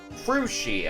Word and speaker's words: Krusi: My name is Krooksie or Krui. Krusi. Okay, at least they gave a a pronunciation guide here.